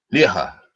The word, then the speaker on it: Lehrer: Now, the pronunciation, I think, in German is Lehrer.